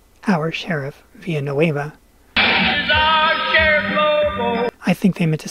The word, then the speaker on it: Villanueva: far it sounds a lot like our Sheriff via no Ava I think they meant to say via no Ava okay it's pronounced via no Ava you should checked out the